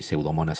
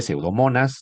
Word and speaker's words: Pseudomonas: Por ejemplo, eh pseudomonas cerinosa. Ya saben, se escribe pseudomonas. No, no me digan pseudomona, eso no estaría bien.